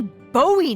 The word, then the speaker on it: Bowie: And then all of a sudden, with no warning, he pulls out this huge rusty Bowie knife. It's actually pronounced Bowie. What? No, it's like the last name, like David Bowie.